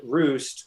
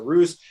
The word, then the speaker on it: Roozt: And Roost was, by the way, I was bad at branding back then. You should have, like the previous, it was just bad. So Roost, it was called Roots.